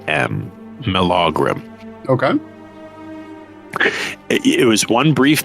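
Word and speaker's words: Melaugrym: m e l a u g r ym mogram okay it was one brief mention in her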